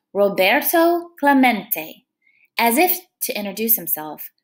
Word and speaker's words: Roberto Clemente: heard the announcer stumble through the spanish name rob a row bert um let's see to clement it echoed in the near empty stands roberto clemente was his name and this is pronounced roberto clemente as if to introduce himself roberto smacked the